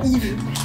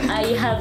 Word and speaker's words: IVE: Faut que j'arrête de dire Yves. Je dis Yves, c'est affreux. T'aimes bien Yves? I have en fait, c'est la prononciation de I have.